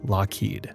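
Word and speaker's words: Loughead: they were Allan and Malcolm lofad pronounced locked a name they' later changed to avoid mispronunciation these two were born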